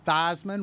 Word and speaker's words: Theismann: Theismann rhymes with Heisman.